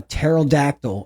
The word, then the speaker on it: pterodactyl: can't you hear a pterodactyl a pterodactyl go to the bathroom why can't you hear a pterodactyl go to the bathroom yeah all right let me have it because the p is silent oh my God come